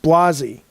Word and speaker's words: Blasey: Blasey says, Jaffee, you've always mispronounced my last name. Even when I corrected you, it's my only pet peeve and you still do it. It's pronounced Blasey.